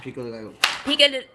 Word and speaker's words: pico de gallo: Pico de gallo.